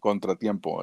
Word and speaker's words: contratiempo: So pronounce it like that, Contra, and then tiempo. Contra Tempo. Sort of without the R and tiempo, just yeah.